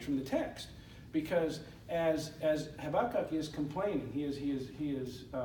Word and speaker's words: Habakkuk: We should have already read Habakkuk, because Habakkuk, and I say it weird, I know I do, but that's how it's spelled. H-A-B-A-K-K-U-K, Habakkuk. That's how you're supposed to say it.